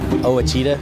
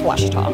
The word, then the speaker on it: Ouachita: I've heard people say, oh, a cheetah. Oh, Wichita. Oh, a cheetah. Is it pronounced oh, a cheetah? Searching for Ouachita Baptist University. Back in Texas, everybody pronounces it Wichita, but really, it's Ouachita.